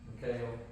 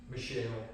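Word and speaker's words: Michal: A person named, spelled Michael, but depends on how you want to pronounce it. Mikhail or Michelle, whatever.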